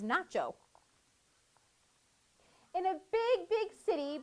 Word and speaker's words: Nacho: And his name rhymes with gazpacho. His name is Nacho.